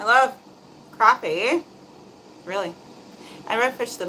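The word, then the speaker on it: crappie: Sher said it's spelled crap but pronounced like crappy.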